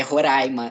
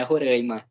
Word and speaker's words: Roraima: É Roraima, não é Roraima. A pronúncia correta é essa, eles vão nos corrigir sempre quando a gente falar Roraima, eles vão nos corrigir porque o correto é Roraima.